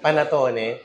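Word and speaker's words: panettone: Panatone baang tawag? Tama ba yan? Panatone.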